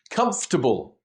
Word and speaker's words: comfortable: Comfortable, we don't pronounce the O and the R.